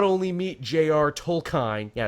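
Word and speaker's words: Tolkien: meet Jr toline yeah it's toline not tolken I've called him tolken forever only to be like no it's chlen and I'm like yeah I guess that is the proper way to say it but tomato tomato I'm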